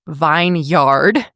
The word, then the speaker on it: vineyard: That's spelled vineyard, V-I-N-E-Y-A-R-D, but we pronounce it vineyard.